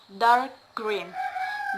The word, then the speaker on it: dark green: The stress is mostly placed on the second word. For example, dark green, dark and green. So the stress in the second syllables, dark green, dark green.